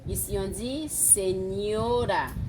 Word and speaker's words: señora: Un N est aussi sous la lettre N qui se prononce de la même façon en français comme la GN. Ici, on dit señora, señora, señor, señorita.